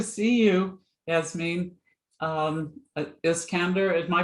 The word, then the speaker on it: Iskander: it's great to see you as mean um is candor am i pronouncing it right yes it's s-i-s-k-a-n-d-e-r that's correct